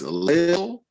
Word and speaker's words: Lil: Black men will use the prefix lil and I have to say it like that because it's not little, it's Lil, because it's Lil apostrophe such person, or young such and such.